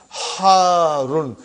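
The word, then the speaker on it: حارّ: Harun. Because the shadda is on ra. So you got to pronounce it properly.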